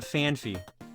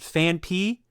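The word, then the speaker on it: Phanpy: not the Pokemon it is but it's fan P not fany do you know where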